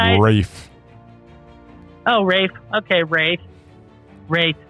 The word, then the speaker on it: Ralph: I've got an uncle. He spells his name the same way. His name's Ralph. My father-in-law's named Ralph, and it's spelled the same, too.